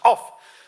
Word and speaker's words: cough: And he says, "Co." And she says, "No, no, it's pronounced o u g- h in cough. It's pronounced off."